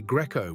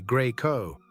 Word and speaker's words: Greco: Americans say Greco with a soft E, Italians say Greco, hard.